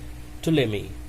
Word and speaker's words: Ptolemy: The name of that person was Ptolemy. The spelling is Ptolemy, but it is pronounced as Ptolemy.